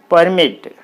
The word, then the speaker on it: permit: there the stress should be on the second syllable for example you see this p e or mit permit okay p e or mit permit so here